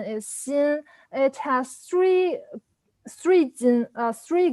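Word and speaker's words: 鑫: as gold so for this sin sin the pronunciation is seen it has three three three gold but three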